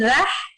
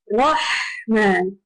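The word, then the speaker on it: رحمن: You pronounce it with a full mouth, Rahman. Rather than rah, instead of rah, you say Rahman.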